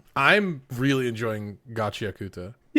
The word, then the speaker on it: Gachiakuta: It's gachiakuta. I suppose you could say it that way, but if I